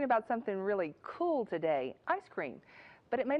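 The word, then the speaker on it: ISS-CREAM: this experiment ice cream we spell it as iss cream and pronounce it as ice cream and so you know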